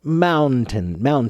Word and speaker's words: mountain: mountain mountain all right that middle N I won't say it's silent it's not silent but it's so subtle that it might as well be silent okay no problem nope